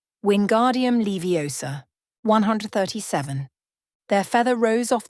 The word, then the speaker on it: Wingardium Leviosa: "Wingardium Leviosa!" he shouted, waving his long arms like a windmill. "You're saying it wrong," Harry heard Hermione snap. "It's Wingardium Leviosa. Make the 'gar' nice and long."